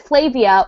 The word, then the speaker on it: Flavia: he just ran it rhymes with brave and grave and I'm like is